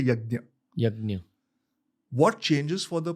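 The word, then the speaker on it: यज्ञ: So firstly, you can say yagya, you can say yagnya also. Because it's Sanskrit, it's nya. So some say yagya, some say yagnya. I say yagya just because it's easier to pronounce in English. But in Sanskrit, if you were speaking in Hindi, I would say yagnya.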